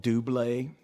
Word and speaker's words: Double: It's a a Swiss duo called Dubé and it's spelled like double and they had a song called the captain of her heart.